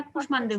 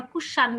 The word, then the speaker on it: কুষ্মাণ্ড: কুষ্মাণ্ডকে আমরা কুষ্মাণ্ডই বলি, আমরা কুষাণ্ড কিন্তু বলি না।